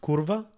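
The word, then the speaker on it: kurwa: are in Polish saying pretty sure that's pronounced curva Kaurava which means [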